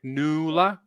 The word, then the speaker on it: Nuala: got nula noor new how do you pronounce kim did i get her right kim nuala lula right like double double u right new la okay that's on uh november